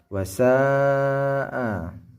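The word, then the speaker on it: وَسَاءَ: Nah, di sini ada mad tabi'i, fathah mengikuti alif. Tapi ingat di bawah, di belakangnya ada hamzah yang mengikuti. Maka hukum bacanya adalah mad wajib muttasil. Mad wajib dia harus wajib dibaca 5 harokat.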